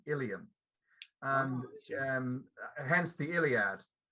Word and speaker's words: Ilium: i pronouncing the uh title correctly you are pronouncing the title correctly ilium is the greek name for troy what we call troy the greeks called ilium and um hence the iliad but um the